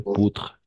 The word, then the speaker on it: poudre: On va prononcer poutre. La E no pronunciamos, y poutre, très bien.